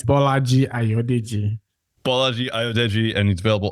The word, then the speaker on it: Bolaji Ayodeji: Yeah, it's Bolaji Ayodeji.